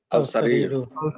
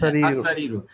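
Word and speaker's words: السرير: আল-সারিরু। আস-সারিরু। আচ্ছা, এখানে আল বলবেন না, আমরা কালকে হরফে শামসিয়া এবং হরফে কামারিয়া পড়েছি। এখানে আলিফ লাম লিখতে হবে, আলিফ লাম লিখতে হবে, বাট উচ্চারণটা হবে আস-সারিরু।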